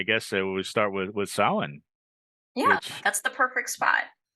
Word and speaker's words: Samhain: we start with with Salin yeah that's the perfect spot which a lot of people mispronounce yes Sam Hayne is not the word right s it it's it's a Gaelic word and um it it's